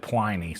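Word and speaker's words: Pliny: do I say it my grandfather's middle name was p l i n y and he pronounced it plyy so that's why I'm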